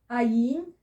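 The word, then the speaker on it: ע: Okay, so we've got the silent letters, ayin and the aleph, which are both silent.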